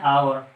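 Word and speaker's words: hour: अब दूसरा एग्जाम्पल जो आप खुद से समझ गए होंगे, इसको हम पढ़ते हैं आवर। एच यहाँ पर साइलेंट है, साउंड निकल रहा है वोवेल का, तो इसलिए हम यहाँ पर एन का यूज करेंगे।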